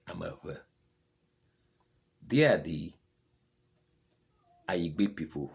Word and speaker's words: Ewe: I'm not Ayigbe. I'm Ewe. I'm not Ewe. I'm Ewe.